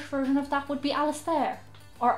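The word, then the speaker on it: Alastar: and the irish version of that would be alice there or al sundar just depending on what way your parents decide you're gonna pronounce it there are other names like andrew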